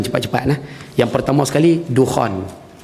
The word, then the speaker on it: Dukhan: cepat-cepat nah salin cepat-cepat nah yang pertama sekali Dukhan Dukhan ejaannya d k h a n Dukhan tulis